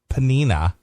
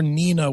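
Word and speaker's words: Pnina: This recent event is predated by another anti-Semitic episode which occurred last year after P-N-I-N-A, Penina, or Nina with a silent. It could be Nina.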